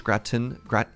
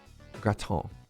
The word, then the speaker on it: gratin: I was told it's a French word, and the only person I know who is guilty of being French, confirmed French, is Milk. And Milk said, don't pronounce the N.